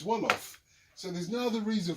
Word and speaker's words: Wolof: There's only one thing that rhymes with jollof in the entire world language, and that is Wolof.